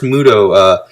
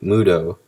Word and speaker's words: MUTO: A lot of the action, when this first Muto, breaks out of its cocoon and starts stomping